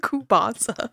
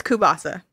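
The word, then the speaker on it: kielbasa: why are you saying kupasa how is it pronounced this is anakupasa oh no it's the Tzatziki katsiki thing all over again oh my God I'm not it's kubasa that's how you say it thanks okay it's kubasa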